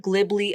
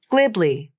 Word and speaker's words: glibly: tongue twister to me probably because of that b consonant that's right there in the middle of the word I'll say the word glibly a few times with